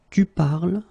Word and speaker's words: parles: you listen to me, I will pronounce it je parle, tu parles, il parle, elle parle. So it does mean that even if you write them differently, E, ES, and then ENT, you will pronounce them the same way.